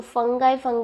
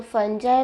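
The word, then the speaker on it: fungi: बेटा इसको फंगाई मत बोलना, फंगाई रॉन्ग प्रोनाउंसिएशन है, इसको फंजाई बोलते हैं।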